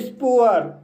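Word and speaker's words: spoor: स्पुअर। स्पुअर शब्द में double O आया है और डबल ओ के बाद आर आया है और यहाँ पर डबल ओ का उच्चारण ऊ आ हुआ है, इसलिए इसे स्पुअर पढ़ते हैं।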